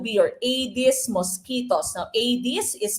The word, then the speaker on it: Aedes: mosquitoes that would be your aedes mosquitos now Adis is spelled a-e-d-e-s okay so a this mosquito foreign